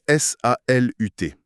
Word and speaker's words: salut: Si on prend le mot salut, il s'écrit s a l u t. Mais l'instruction formelle de cette première leçon est super catégorique. Il ne faut surtout pas prononcer le t final. On dit salut.